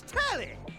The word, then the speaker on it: Telly: The name's Telly. RHYMES WITH NELLY. LIKE WHOA, NELLY.